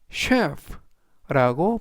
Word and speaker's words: chef: 뜻은 가르치다라는 뜻이 되겠습니다 이번에는 CH 취가 아니고요 쉬 발음이납니다 그래서 여기에 해당되는 단어 이번 단어에서도 역시 CH 들어 있는데요 이때에는 CH 취가 아니라 쉬 그래서 전체적인 발음은 셰 chef라고 발음하시면 되겠습니다 품사는 명사 뜻은 요리사